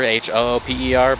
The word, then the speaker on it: Hooper: It's spelt out Hooper, H-O-O-P-E-R, but the locals call it Hooper.